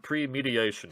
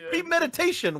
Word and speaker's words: premeditation: In any case, All of us need to figure out how to pronounce the word premediation, because apparently all of us are pronouncing it incorrectly. The defense... It's premeditation, what?